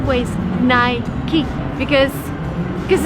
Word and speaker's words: Nike: busca Nike shoes the correct way to pronounce this brand name is Nike but that's very American if you travel abroad people would say naik but the right ways night key because this it's just the way it's pronounced